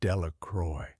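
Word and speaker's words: Delacroix: Bobby and Harry Jones and Dicky Delicqua, the villagers pronounced this name Delroy, eventually made a great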